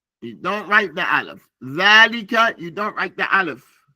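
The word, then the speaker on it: ذلك: The word is dhalika, but the aleph is not written.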